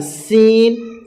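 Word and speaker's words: س: সিন হচ্ছে শির শির ও পাতলা আওয়াজে, সিন হচ্ছে শির শির এবং পাতলা আওয়াজে।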